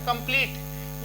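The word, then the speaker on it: complete: एक ट्रिक थी MBT, ऐसे ई साइलेंट के लिए जब ई के अंत में, जब वर्ड के कोई शब्द होगा उसके अंत में ई आएगा तो वो साइलेंट रहेगा। कंप्लीट यहाँ तक पढ़ा जाएगा, इसको इसकी साउंड नहीं लेते हैं। ऐसे फेस में इसकी साउंड नहीं ली जाती है।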